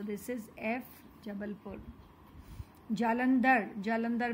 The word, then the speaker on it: जबलपुर: जबलपुर, जबलपुर, हम जबलपुर नहीं बोलते हैं, हम हमारा सीधा सीधा नाम बोलते हैं जबलपुर, right. So this is एफ, जबलपुर.